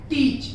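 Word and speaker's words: teach: जैसे देखिए आप यहाँ पर एग्जांपल्स दिए हुए, टीच, टीच में ई के बाद ए आया हुआ, ए को हम साइलेंटली पढ़ते नहीं, उसे साइलेंट कर देते हैं, टीच हो जाएगा।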